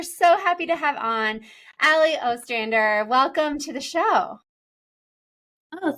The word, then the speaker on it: Allie Ostrander: fun guest we're so happy to have on Ali Ostrander welcome to the show oh thank you also I'm so impressed that you pronounced my last last name correctly that is